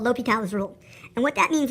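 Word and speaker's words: L'Hôpital: to discuss something called l'hopital's rule not el hospital or Hospital on a l'hopital it's French I believe in one of my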